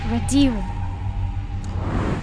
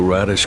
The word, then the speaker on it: Radiru: The Radish clan is finally #1. Jinu, sir. It's pronounced Radiru.